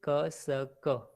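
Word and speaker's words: cassock: pronunciation is kasak.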